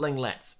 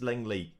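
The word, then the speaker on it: Lenglet: i've said that wrong it's not langlets basically i think it's langley people comment section told me i'll get right at some point but langley i think is how you say his name but there are three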